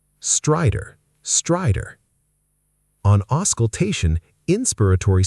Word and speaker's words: stridor: Word 7, stridor. Strong first syllable, the second almost disappears. Stridor. Stridor. Stridor. On auscultation, inspiratory stridor was noted.